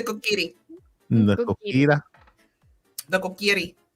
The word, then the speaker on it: Kokiri: the Kukara. No, it's the Kokiri.